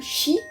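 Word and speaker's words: 四: Au Japon, certains hôtels sautent l'étage numéro 4 car le mot chi 4 se prononce comme mort.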